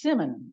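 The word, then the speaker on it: persimmon: anybody they're unbelievably sour usually pronounced Simmon often called posum Apple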